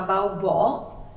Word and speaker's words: Baubò: Questa dea è una dea greca che si chiamava Baubò, con l'accento sulla O, e già faceva ridere questo